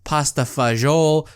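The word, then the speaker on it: pasta e fagioli: And then she would also make a dish called pasta vazzoule. Pasta vazzoule. I don't even know the proper way to say this. It's spelled Fagioli. So some people say pasta fagioli.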